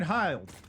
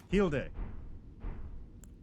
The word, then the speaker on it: Hilde: I got Fire Knight Hilde. Hilde. That's how you pronounce it. It's Hilde, not Hilde.